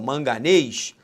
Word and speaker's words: manganês: Sobre a acentuação gráfica das palavras manganês, presta atenção, manganês, sílaba tônica, aí ó, é a última, oxítona, oxítona terminada em ES.